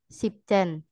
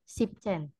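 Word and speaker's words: siebzehn: e SH e perbedaannya kalau angka 7 biasa kan zben aja kalau 17 sipcen jadi e pengucapannya siben dan sipcen ada eh dipotong en-nya lalu Ahen noinen dan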